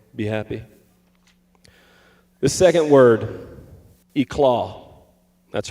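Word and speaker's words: éclat: happy the second word e claw that's right i use an sat word here e claw or a claw some would say is spelled e-c-l-a-t it means a brilliant display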